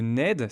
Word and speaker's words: Nedde: Une forêt qu'il exploite sur la commune de Ned. Ça s'écrit N E 2 D.